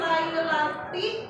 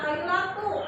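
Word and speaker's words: لَيْلَةِ: Kemudian dalam pengucapan lailati pada ayat pertama ya, sering dibaca lailatu seperti ayat kedua dan ketiga karena mungkin sering tertukar atau sering keliru ya. Karena padahal kan harusnya lailati ya, kalau ayat kedua dan ketiga baru lailatu.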